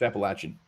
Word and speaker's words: Appalachian: Well, Appalachian, don't say it wrong. And remember this. It's Appalachian.